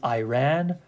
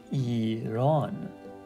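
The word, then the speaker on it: ایران: people they usually read read this word as Iran or Iran but that's not how we pronounce it it's actually eonon so that's why it's very important to make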